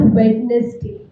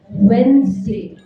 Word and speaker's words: Wednesday: Not Wednesday, Wednesday. बीच में Z का sound आता है.